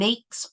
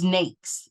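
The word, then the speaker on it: NAICS: classification system code and nakes rhymes with cakes and I believe that's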